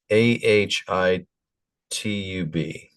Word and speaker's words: Ahitub: highub okay let's let's pronounce let's get the pronunciation here a highub ahatub a h i t U B Au.